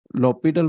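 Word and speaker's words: L'Hôpital: H is silent right low petal rule okay so this is a French name and uh if I remember correctly then this H must be silent and if I remember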